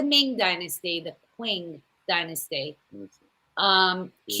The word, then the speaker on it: Qing: During the Qing, I think that's how you say it, dynasty. It's not the Ming dynasty, the Qing dynasty. Qing. Qing.